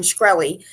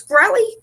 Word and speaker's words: Shkreli: Martin Shkreli, he is so disrespectful.